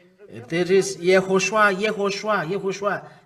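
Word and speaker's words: יהושע: So Moshe called Hoshea, the son of Nun, the child of Nun, YAHHOSHUA. You find it, YAHHOSHUA. So it's Joshua who is called YAHOSHUA. There is YAHHOSHUA, YAHHOSHUA, YAHHOSHUA.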